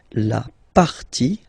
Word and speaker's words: partie: And then when they're ending with ie, like here, okay, so basically you don't pronounce the okay, so it will be only the sound I, okay, for instance, la vie, life, okay, la partie, the part, okay, so